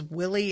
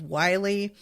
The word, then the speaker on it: Wiley: and then later on she says Willie instead of Wiley, and tries to argue with Maeve about how it's pronounced like it's not Maeve's fucking name.